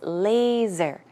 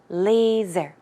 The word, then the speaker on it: laser: time pronouncing that word the S is pronounced with a Z sound so it's laser laser okay and also droplet